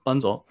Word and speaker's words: Bunzl: Bunzl, do you pronounce the L? Bunzl.